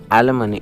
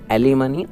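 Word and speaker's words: alimony: क्या है ये, एलिमनी। इट इज़ नॉट एलिमनी, I silent होता है।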